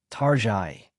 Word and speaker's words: Target: People affectionately call it Tarai because it feels somewhat upscale for a discount store, but lately people have been questioning whether it still deserves that French sounding pronunciation.